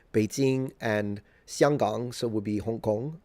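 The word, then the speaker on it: 香港: It's kind of weird because the distance between, say, Beijing and Xianggang, so would be Hong Kong. That's how you say it in Mandarin, by the way.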